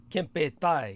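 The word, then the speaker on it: Kempeitai: Kempetai, yes.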